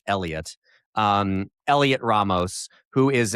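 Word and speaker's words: Heliot: It's it looks like it's spelled Helot and I guess it's pronounced Elliot.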